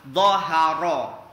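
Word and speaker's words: ظَهَرَ: Dhahara, ro-nya harus tebal.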